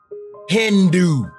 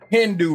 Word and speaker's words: Hindu: So, the word Hindu, remember the H is silent.